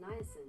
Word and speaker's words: niacin: That's pronounced niacin.